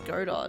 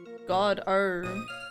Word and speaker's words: Godot: silent pronounce it yeah emphasis on the first syllable not the second it's French a coffee loving defense